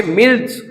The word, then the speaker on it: milch: और दूधारू को हम कहते हैं यहां पे, वैसे तो स्पेलिंग MILCH होती है, लेकिन उसको हम कहते हैं यहां पे मिल्च ब्रीड।